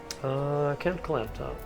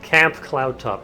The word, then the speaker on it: Camp Cloudtop: Camp Cloudtop. Why can't I say this correctly? Camp Cloudtop. Every single time I pronounce that incorrectly. It's either clamp or clount.